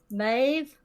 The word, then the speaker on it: Maeve: I am playing Maeve. That's how you pronounce that.